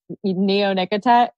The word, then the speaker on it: neonicotinoid: Can you stop using your neonicotinoid?